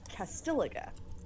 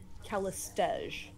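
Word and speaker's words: Callistege: So apparently I had always been pronouncing the name of the woman in red with the mirror images as Castiliga. And then I started hearing other people pronouncing it, you know, in conversation, and everyone else I ran across pronounced it Calistege.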